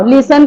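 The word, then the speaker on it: listen: लिन लिसन यानी सुनो लिसन का स्नी देखो लिसन न टी बोलते हैं टी बोलते हैं हम लोग नहीं दैट इज व्ट साइलेंट ओके जिसका ट spelling is there in the word but that spelling व people not speaking out that is called the silent okay लिसन लिसन लिसन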